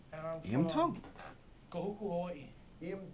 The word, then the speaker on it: Tongi: My name is Iam Tongi, and I'm Iam from Tongi. Kahuku, Hawaii. Iam Tongi. Tongi. You pronounce Tongi. it easy, like a D in the Tongi cultures.